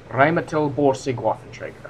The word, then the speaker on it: Rheinmetall Borsig Waffenträger: Actually, I know how to pronounce this, guys. That's amazing, isn't it? The Rheinmetall Borsig Waffenträger.